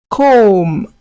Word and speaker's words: comb: Comb. Good. Please pronounce after me.